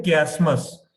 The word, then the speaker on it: chiasmus: एक इंग्लिश में इसको बोलते हैं क्यासमस। क्यासमस क्या होता है, इसको प्रोनाउंस करते हैं CHIASMUS।